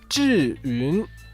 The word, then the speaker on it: Zhiyun: If you ever wondered what's the meaning of the Chinese characters on the back of every Zhiyun Crane gimbal, well, it's pronounced Zhyiun and means wise cloud.